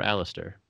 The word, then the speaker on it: Alistair: So for everyone listening, your name is it Alastair or Alistair? How do you pronounce it?